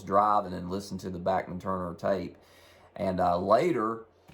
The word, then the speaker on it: Bachman: Canada's backman Turner overdrive and yes it is pronounced backman and uh I heard this uh from uh an interview I heard with Randy backman uh a while back and he uh he